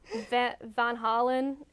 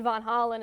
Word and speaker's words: Van Halen: Van Halen or Van Halen. Van Halen. Van Halen, and we said Von Hollen, and they were like, Thanks, you think Nancy we care?